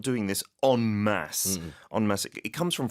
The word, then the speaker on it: en masse: And one other key phrase, I suppose, is they're not doing this en masse. En masse. It comes from French, so that's why it's spelled E-N-M-A-S-S-E.